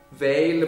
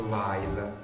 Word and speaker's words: Weil: Weil pronuncia la francese, Weil perché la sua è una famiglia ebrea, e quindi un cognome che probabilmente all'inizio si sarebbe pronunciato Weil, come dicono ancora oggi in Germania, ma appunto nasce e vive in Francia.